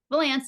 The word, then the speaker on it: Vallance: LinkedIn as well and did I pronounce your last name wrong is it Valance Valance yep that's great okay so I accented the wrong syllable at the beginning so I apologize about